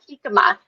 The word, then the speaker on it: jicama: with prebiotics is called jicama it's actually it's supposed to be pronounced hikama uh but uh our